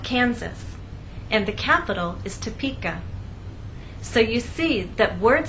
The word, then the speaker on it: Topeka: kin or Ken so we do not say topic Atkins ass the correct pronunciation is Topeka Kansas get it exercise to listen to the